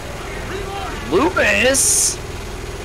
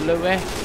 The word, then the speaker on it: Louis: Lewis! Fuck Lewis. All my homies hate Lewis. It's pronounced Louis.